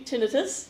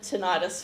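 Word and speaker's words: tinnitus: he's suffering from and I always pronounce this wrong. So Tracy, tinitus. Tinitus. I I used I said tenitis for about my whole life until I started this job.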